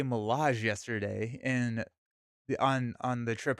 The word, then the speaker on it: Milaje: I was like, I learned how to say Milage yesterday in on the trip home because it's Mirage, but with an L, so it's Milage.